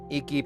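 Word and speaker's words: Eiki: So you guys, some of you might have remembered we had this um Eeky projector. That's the name of the brand. E I KI. I think it's pronounced Eeky.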